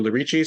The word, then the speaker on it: Lerici: Lerici, yep.